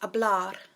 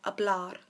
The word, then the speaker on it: hablar: verb to speak is a blood the H is silent so we just have a blood and to say to